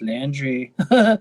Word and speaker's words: Landry: It doesn't really like rhyme with laundry, but your name is Landry.